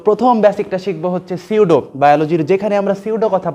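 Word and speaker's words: pseudo: সিউডো nucleus, উচ্চারণটা কিন্তু সিউডো, সিউডো nucleus.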